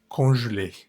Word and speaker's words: congelée: Fijémonos que esa palabra tiene muchas es, algunas sin tilde, otras con tilde. Ya sabemos que la última E no se pronuncia. Las E que tienen tilde o acento agudo se pronuncian bien como en español. Y las que no tienen acento muy seguramente se van a pronunciar como en francés. Entonces en este caso es congelé. Je l'ai.